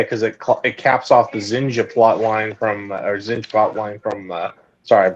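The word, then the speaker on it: Zsinj: Like, I get Courtship of Princess Leia because it caps off the Zinja plot line from sorry, I'm pronouncing it like how the audiobook does now. Zinj? Yeah, no, they pronounce it like Jinja.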